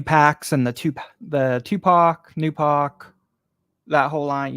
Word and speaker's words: Tupac: don't be dissing it it's not it's not t Pac it's Tupac okay all you influencers been saying it wrong um so this